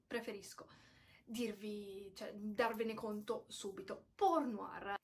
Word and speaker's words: Portnoy: ho detto porno hard sì avete sentito bene pur noir pole ma ripetiamo tutti insieme porno armi sembra di essere in quella scena di bastardi